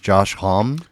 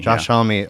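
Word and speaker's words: Josh Homme: Uh so American Rock out of Palm Desert, California, is it pronounced Josh Hom? Uh homie. Homie. Homie. Homie. Josh Homie.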